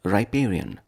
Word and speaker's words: riparian: 28 today's word is riparian riparian riparian four syllables riparian is an adjective